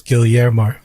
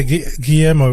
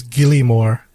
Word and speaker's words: Guillermo: up he he'd been pronouncing his name as gilly moore like because you know when you see the word guillermo because like oh fuck i think it says gilly more so he's just mentioned